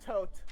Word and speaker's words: Thoth: Osiris and Thoth or thought however you say it it's pronounced tote tote like tote bag yeah toast that's it